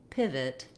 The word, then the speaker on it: pivot: In pivot, letter I says the vowel I, like in pit or did or it.